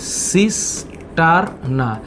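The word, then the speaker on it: cisterna: তার মধ্যে একটা হচ্ছে সিস্টারনা তোমরা উচ্চারণ করবা হ্যা সিস্টারনা তোমরা এটাকে সিস্টার নিয়ে উচ্চারণ করতে পারো যেটা দেখতে এরকম চৌ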